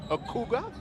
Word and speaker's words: Okugwa: Did I pronounce his name correctly? Okugwa? Yeah.